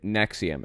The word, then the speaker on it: NXIVM: in 1998 Keith Rainier and Nancy salesmen founded nexium NX IBM is how it's spelled a personal development company offering executive success